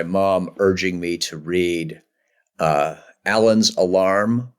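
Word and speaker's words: Alleine: urging me to read Alan's Alarm, not Elaine's Alarm. A new PhD by Josh Brownfield has determined as one of its least important points that it's actually pronounced Alan, not Elaine.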